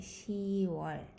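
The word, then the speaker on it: 시월: 10월 is so difficult. So we just say 10월.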